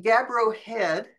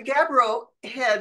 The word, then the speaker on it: Gabbro Head: It's the Gabbro Head.